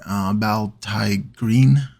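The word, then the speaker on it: Biel-Tan Green: And I'm doing Baltai green, that's the way you pronounce it, as a shade.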